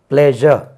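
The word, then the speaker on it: pleasure: எஸ் யூ ஆர் இ பிளஷர் மெஷர் மெஷர்மெண்ட் அது நீங்க தெரியாம மெஷர்மெண்ட் எடுத்துட்டீங்களா என்ன பிளஷர் இருக்கு பிளஷர் கிடையாது பிளேஷர் இதை எடுத்துருவோமே டெலிவிஷன் இங்க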